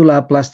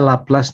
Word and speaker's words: Laplace: Sesuai dengan namanya Laplace nih, ilmuwan Prancis ya, kayak Fourier juga. Makanya bacanya jangan Laplace tapi Laplace.